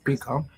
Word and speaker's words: pika: Pika, excuse me.